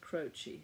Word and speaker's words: Croce: Anyway, noted dance critic Arlene, I think it's pronounced Croce, it's C-R-O-C-E.